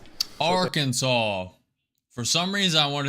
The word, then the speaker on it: Arkansas: Unlike for the state of Kansas, the S here is definitely silent. How do you go about pronouncing it? Arkansas. Arkansas. Arkansas.